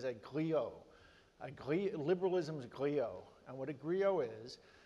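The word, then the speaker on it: griot: speaker mot way just corrected me on my pronunciation I view myself more and more these days as a gleo a GLE liberalism's Grio and what a Grio is in West Africa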